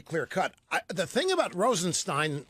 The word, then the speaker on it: Rosenstein: The thing about Rosenstein or Steen, I'm not sure. I've heard it pronounced both ways. It is Stein.